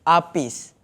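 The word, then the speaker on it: Arghpiez: orang yang pening sikit macam nak sebut dia senang aje Apis a Apis a cuma ejaan tu kita komersialkan sikitja sikit a r g h p i EZ okey kalau a r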